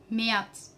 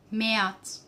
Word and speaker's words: März: January, Januar, Januar, Januar, February, Februar, Februar, Februar, March, März, März, März. Yes, because muted vowel a umlaut, we pronounce it like a, becomes März.